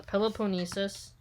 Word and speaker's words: Peloponnesus: embraced almost the whole peloponnesus okay so the peloponnesis that's spelled p-e-l-o-p-o-n-n-e-s-u-s macedon saw its progress but was